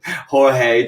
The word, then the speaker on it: Jorge: No, well, Jorge. it's But there's another one. stop it. No, is it not? I've been calling him George this whole time.